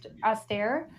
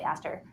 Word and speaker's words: Auster: Austere, because I want to say Aster.